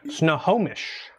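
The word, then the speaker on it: Snohomish: up to anything interesting snow homish SN homish is how you say it I'm pretty sure I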